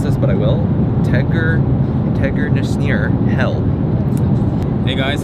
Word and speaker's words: Tegernseer: I don't know if I should try and pronounce this, but I will. Tegernseer Hell. Hey guys, it's called Tegernseer.